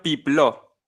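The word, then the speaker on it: Peplau: Pronuncia Pipló.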